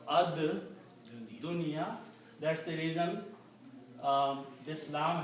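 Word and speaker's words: الدنيا: So instead of saying al dunya, you pronounce ad dunya.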